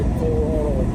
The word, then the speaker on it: Colorado: You can't say Colorado, you have to say Colorado. Kind of make your mouth like an O shape, Colorado.